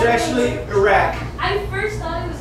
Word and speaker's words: Iraq: It's actually Iraq.